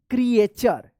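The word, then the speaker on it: creature: टी यू आर ई क्रिएचर तो ध्यान रखिएगा जब भी टी के बाद यू आर ई रहता है लास्ट में तो टी यू का च उच्चारण होता है क्र क्रिएचर ऑन अर्थ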